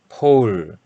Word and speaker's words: pole: 거기 때문에 그냥 간단하게 콩글리쉬 그냥 포로 이렇게 얘기를 하는 하는 상황입니다 어디 그 나중에 외국 나와서 폴 얘기할 때는 프로 이렇게 하시면 은 사람으로 착각을 하게 됩니다 그래서 퍼올 이렇게 아 유창하게 발음을 해 주시기 바랍니다 자 아무튼 이 포를